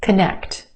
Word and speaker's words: connect: the salad one more connect connect two syllables emphasis where on the second syllable the e sound connect first syllable becomes the schwa very quick unemphasized a schwa sound connect connect let's connect later